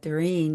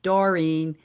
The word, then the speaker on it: Doreen: My name is uh Darin and sometimes people well depending on which country they'll say Dorene and you know just